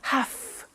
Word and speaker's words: have to: a computer at work now did you hear my pronunciation i have to notice i don't say v i say f have half it becomes have to have the two becomes in pronunciation have to have to okay so i have to